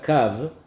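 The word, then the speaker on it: קו: hay un secreto, porque se escribe realmente kav con hei, kuv vav hei, pero se lee como si no estuviese la hei, y solamente se lee kuv vav.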